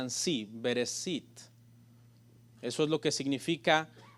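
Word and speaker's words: בראשית: la la expresión sh y la tras la pronuncia en sí bereshit eso es lo que significa en el principio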